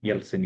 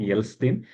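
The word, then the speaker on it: Ельцин: आता है Boris यल्टसिन यल्सिन यहां स्पेलिंग की तो इसी प्रॉब्लम है इट्स नॉट यल्सिन इट्स यलसिन ठीक है बोरिस यलसिन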